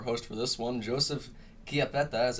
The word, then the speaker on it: Chiappetta: That's the Italian pronunciation. So Wow, now because I know everybody knows. one C is the ch sound.